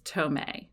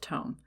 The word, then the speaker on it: tome: the word tome, and I have mispronounced it as tome, because apparently I thought, it's a scholarly text, so I'm going to make it all prestigious and bougie and call it a tome, because tome is just boring. Well, it's just pronounced tome.